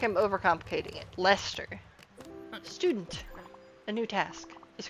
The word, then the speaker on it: Leicester: Like grated cheddar on baked beans or red Leicester. Am I pronouncing that correctly?